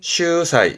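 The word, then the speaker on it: 秀才: 발음은 슈사이, 슈사이.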